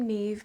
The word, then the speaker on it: Niamh: So, I decided on the name Neve because of the cables being very Irish or Celtic looking.